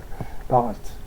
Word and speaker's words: Bharat: liste en appel- and bar à thym parat prononce pas la dernière donc c'est vous ré